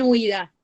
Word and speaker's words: huida: Lo mismo pasa con huida. Muchos le ponen como si tuviera una tilde en la I, pero no lo tiene.